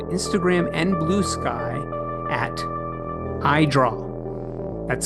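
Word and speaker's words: Edraugh: You can find Nathaniel and his work on Instagram and Blue Sky at Idraw. that's spelled E D R A U G H.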